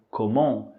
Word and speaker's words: comment: letra T Só que essa letra t ela é muda Ok portanto a pronúncia é comum comum em seguida nós temos